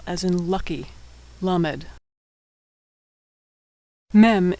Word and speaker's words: mem: Mem is pronounced M as in Mary.